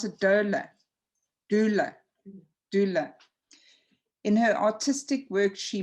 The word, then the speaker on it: doula: You pronounce it doula.